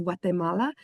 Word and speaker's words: Guatemala: And then when we go into Guatemala or as it's pronounced, Guatemala, we'll walk around and hike up around a bunch of different ancient Mayan runes in Teal.